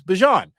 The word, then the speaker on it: Bijan: saying Bijan, and I've always felt and known it to be Bijan, maybe it's Bijan. Then someone sent me a clip from, I guess, training camp, NFL Network, all that, and Bijan Robinson was saying my name is Bijan.